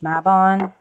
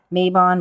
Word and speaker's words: Mabon: seasons of The Witch mabon Mayon mabon however you want to pronounce it um I usually say mabon and everyone's kind of